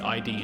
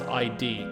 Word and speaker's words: id: not to keep the ID in check that's the thing I just wanted to remind us of the whole entanglement of this Haram it's not pronounce ID it is just id id okay it's an ID